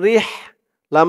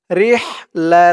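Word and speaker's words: رحلة: র দিয়ে হা ধরবে, র হাজের রিহ, লাম জবর লা, রিহ লা, রিহ লা, ইলাফিহিম রিহ লা। এই হার উচ্চারণটা গলার ভিতর থেকে চিকুন হয়ে আসবে। এটা মোটা হয়ে আসবে আর এটা চিকুন হয়ে।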